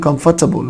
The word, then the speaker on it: comfortable: need to wear something comfortable. قلت لكم حبايبي دي نطقها comfortable. comfortable ما تنطقش الار خالص.